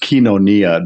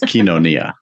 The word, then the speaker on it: koinonia: it a little bit um yeah konia it's pronounced kenonia the oi is a is what we call